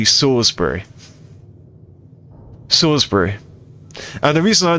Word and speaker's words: Salisbury: Sisbury steak is how the Americans say it, but it's actually Sorsbury.